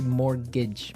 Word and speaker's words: mortgage: Yeah, it has a T in it, but you don't pronounce it. You say mortgage.